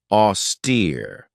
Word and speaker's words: austere: this one right here auster this has two syllables and the stress is on that second syllable with that long e sound auster if somebody or something